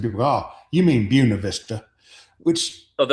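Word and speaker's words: Buena Vista: They named it with the German or the Spanish name because they like the look of the name but then mispronounced it.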